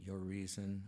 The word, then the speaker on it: Urizen: Urizen, representing reason, U-R-I-Z-E-N, your reason, or I've always heard it pronounced as Urizen.